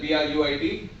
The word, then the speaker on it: bruit: What is that BRUIT? Do it. Bruit. T is silent.